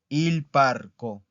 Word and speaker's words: parco: ¿En dónde está el acento de esta? ¿Dónde está la sílaba tónica de esta palabra? La voy a volver a repetir. Il parco. Está aquí, ¿verdad? Parco. ¿Ok? Entonces es una palabra plana.